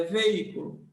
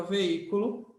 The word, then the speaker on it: veículo: palavra aqui ó veículo Qual a sílaba forte dela Vamos separar v e cu l a sílaba forte dessa palavra é esse I aqui tá ó sílaba forte aí você conta de trás para frente ó última penúltima antepenúltima ela é a número três aí você já até já sabe que a número três tem acento tá então ela é